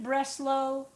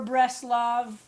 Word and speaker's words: Bratslav: But sometimes you'll see it Breslau or Breslav. There are a few different ways that the name of the town in western Ukraine, Bratslav is in western Ukraine, is pronounced.